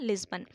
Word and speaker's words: लिस्बन: Option first यहाँ पे आपका राइट आंसर हो जाएगा लिस्बन। इसको करेक्ट है इसका प्रोनाउंसिएशन लिस्बन।